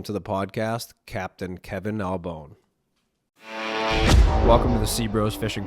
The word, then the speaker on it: Albohn: We're live at Castafari 26 with Kevin Albohn. Am I pronouncing that right? Yes, sir. Bone.